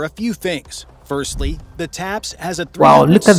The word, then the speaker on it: TAPS: that the tank differs is that it has a brand new system called a Top Attack Protection System, TAPS, pronounced TAPS, Another one, with the a advent of a Top whole Attack slew of Protection anti-tank System.